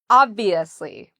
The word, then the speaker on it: obviously: Obviously. Obviously. So that's how we say this word, obviously. So the strength is on the first syllable.